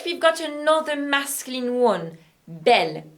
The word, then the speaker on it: belle: e double l e bell masculine and bell feminine are pronounced the same and it's exactly the